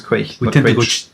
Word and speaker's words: Quaich: yeah quite quick quite the thing is that we see the ch and we go yeah no it's quick the german word sounds